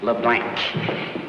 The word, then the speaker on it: LeBlanc: That's capital L, small e, capital B, small L, A, N, and a hard C. LeBlanc.